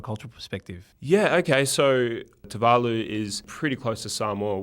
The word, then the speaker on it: Tuvalu: Everyone that I worked with would just naturally say Tuvalu, and I was able to remind my colleagues that the locals would actually pronounce it Tuvalu.